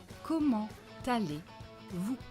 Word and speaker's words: comment allez-vous: Comment, silent T, but because here there is a liaison, we are going to pronounce it. Comment t'allez? Comment t'allez? Comment allez-vous?